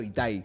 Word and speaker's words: Itai: Sí, quiero decirte que la mayoría pensaba que tenía el acento en la I final, así que salí victorioso. Sí. Muy bien, muy bien. Aparte me suena raro Itaí, digamos.